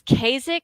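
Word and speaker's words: Caezik: um under the label I don't know how to pronounce this it's kasic I think C AE z i k SF so science fiction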